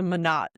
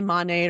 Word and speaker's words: Monat: In fact, Monat is the German word for month. And I took German, so that's where my brain goes automatically, is to Monat.